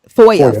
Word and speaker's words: FOIA: Is that what it's FIOA? Is that how you pronounce it? Fire. FOIA.